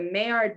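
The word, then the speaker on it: Maillard: always say this where i always say it like the duck but it's the mayard browning reactions um that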